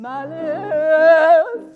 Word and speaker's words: Malice: I'm Malice, I'm Malice. I know my name rhymes with Alice.